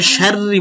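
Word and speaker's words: شَرِّ: মিন শিন র জবর শার তাশদিদের উচ্চারণ দুইবার র জেরি মিশারি এই রটা বারিক করবেন মি শাররি বলবেন শাররি মিম নুন জের মিম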